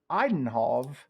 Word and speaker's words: Eindhoven: I will give out his first, and that is PSF Eindhoven That's how it's pronounced.